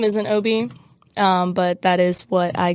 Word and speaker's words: O.B.: We just figured out how to say this right here. There was a whole lecture, a whole lecture about it like yesterday, and from me. Yeah, I was like, just say it like AJ.